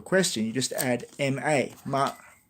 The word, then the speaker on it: 吗: Well, to make one of these sentences into a question, you just add ma, ma. And you don't pronounce it, you don't very much, so you just say ma.